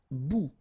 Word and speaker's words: bout: Un bout. Remember, final T not pronounced.